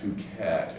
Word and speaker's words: Phuket: I kid you not, it was Phucket. Somebody said, oh, that's pronounced Phuket, and I'm like, no, I like Phuket. I'm going with my pronunciation.